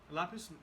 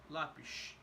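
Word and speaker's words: lápis: end of the word so for example lapis lapis is peso right normal pronunciation labs in Portugal would be more like lapish so the S the final s in Portugal is more like a sh sound so this is slightly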